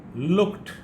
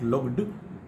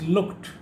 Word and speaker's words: looked: Looked, not looked, it's looked.